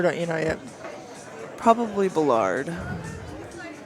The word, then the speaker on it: Ballard: Probably Bullard. Is that how you say it, Ballard? No. No, keep it's saying actually it's supposed to be Ba- Ballard.